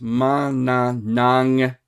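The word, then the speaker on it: Manananggal: literally is Mananangal because there's two G's. That first G's got to go on that syllable. This G's got to go on this syllable, and you got to get it right, or because they will Yeah.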